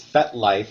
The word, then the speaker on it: FetLife: Okay, I hate when people call it FET. It's FetLife. It's 2 syllables.